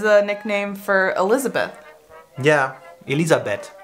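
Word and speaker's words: Elisabeth: nickname for Elizabeth yeah ELISA bet Elizabet ELISA bet I like it because the H is just not there and it's funny yeah the H is there in the name but we don't say it that's what I'm saying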